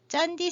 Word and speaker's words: Candi: 모르겠는데 여기 신기한 게 짠디 새우라고 얘기해요. 짠디라고 하는 말 굉장히 많이 나오는데 칸디라고 써놓고 이거 짠디 CANDI라고 쓰고 이거 짠디라고 읽어요.